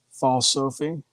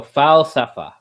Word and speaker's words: falsafa: No, just say it as it's written in English. Like, pronounce the A like you would normally pronounce an A. Fal Sophie?